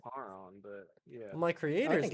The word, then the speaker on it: Charon: My name is Karen. Is it like like a CHARON? Yes, that is how you spell my name. Karen. I think it's pronounced Charon, but yeah.